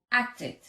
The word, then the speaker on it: acted: En pasado, acted. Id. Acted.